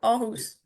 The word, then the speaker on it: Aarhus: I many many years ago I gave a presentation at the University of Aarhus. Is that how you say it? Yeah, Aarhus.